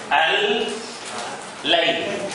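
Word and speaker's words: الليل: See, it is not al. You know, you pronounce the lam clearly. Al, layl.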